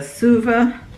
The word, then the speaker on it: Suva: It is the Suva, that's how you say it, Suva Beauty palette.